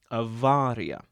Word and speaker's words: avaria: You'll notice that I'm pronouncing the Latinized form of awar with a "v" sound, avaria.